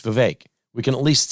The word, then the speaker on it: Vivek: Donna Brazile calls Vivek Ramaswamy Vivek. And Maher corrects her and says it's Vivek. He did a rap. It rhymes with cake. It's Vivek.